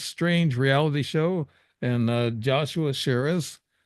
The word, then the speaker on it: Chaires: You've been listening to the Dave Emmons Strange Reality Show, and Joshua Sherris. Am I saying that right? That's French. Yep. Sherris, okay.